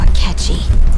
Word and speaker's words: Akechi: His name rhymes with Bletchy. Goro Akechi.